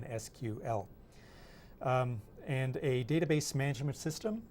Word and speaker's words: SQL: So relational databases are often queried using a standard language called structured query language, abbreviated SQL, but often pronounced SQL because it's just easier to say than SQL.